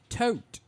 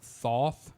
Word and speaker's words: Thoth: It's actually spelled Thoth, but I've always heard the correct pronunciation of that is Tote. So, like Alex Tote.